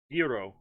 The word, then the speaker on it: gyro: food was really good how did they pronounce it greek um hero hero yeah that's how they said it the staff and and